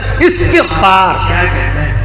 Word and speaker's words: استغفار: ترجمہ یہ جو ہم لوگ کہتے ہیں استغفار کرنا چاہیے بھائی، استغفار نہیں، صحیح تلفظ ہے استغفار.